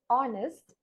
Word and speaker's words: honest: Considering this phonetically again, this word honest, uh, it the H, the first letter of this word H is silenced here, and it begins with the sound O, that is the vowel sound O.